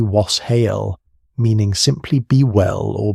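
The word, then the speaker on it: wes hāl: Communities across England practiced something called wassailing, a custom reaching back to an old Anglo-Saxon greeting pronounced roughly was hael, meaning simply be well or be in good health.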